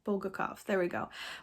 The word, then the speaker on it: Bulgakov: by mikhail bulgakov i always say his last name wrong bolgakov there we go it's like stutter over it